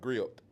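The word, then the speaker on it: griot: have this thing called grilled. So it's the T is silent but it's GI.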